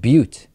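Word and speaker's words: Butte: Colorado now David how how do you pronounce the word b tte I think it's the city in Colorado I think is pronounced but okay because it would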